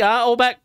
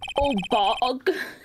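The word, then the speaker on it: Oldbag: Let me get this straight, Obeck. Mrs. Obeck or Miss Obeck. I don't know which one. It's actually pronounced Obog.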